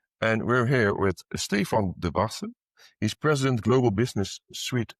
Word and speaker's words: Debase: We're at SA SAP Connect in Las Vegas and we're here with Stan Debas.